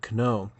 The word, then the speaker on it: know: The The K used to be pronounced there, know.